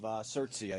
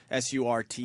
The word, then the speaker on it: Surtsey: Volcanic activity, the formation of Surtsey, I believe is how you say it. Surtsey.